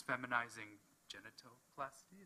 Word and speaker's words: feminizing genitoplasty: was given, correct me if I'm wrong in pronouncing this, feminizing genitoplasty, is that right?